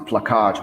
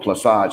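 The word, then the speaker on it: plaçage: the system of plasage now dennis spurling pronounced it pluckage which is not how it was pronounced but uh the french really called it plasage and that was like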